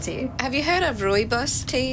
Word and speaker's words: rooibos: Have you heard of rooibos tea? It's like a tea from a bush. I actually have some in my tea chest. Oh, cool. Yeah, I saw someone say rooibos, like boo.